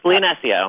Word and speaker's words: Leonesio: Am I pronouncing that right? Yes, Leonesio.